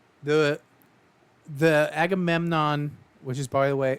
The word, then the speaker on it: Agamemnon: What sucks is every time I think I am saying it right, I say agenmom and then I'm like, okay, mom is not a part of that word.